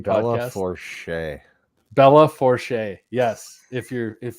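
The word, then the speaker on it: Belle Fourche: Lindskov Equipment Implement from Belfouche, South Dakota, Isabel and Mobridge, because they like to give. I'm not going to finish that. I think it's pronounced Bella Forche.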